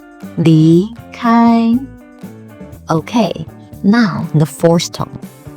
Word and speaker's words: 离开: Listen closely to how I start with a low pitch and rise, then stay in a high pitch for the first tone. 离开, 离开.